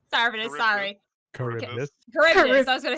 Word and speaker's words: Charybdis: Charbidus. Sarvidus, sorry. Charybdis. Charybdis, I was gonna say. I can't it's not pronounce Charbidus.